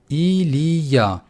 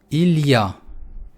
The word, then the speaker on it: il y a: «Илья» можно произносить просто как отдельные слога, как «иль» и «я». Если я медленно считаю, я буду сказать «Илья».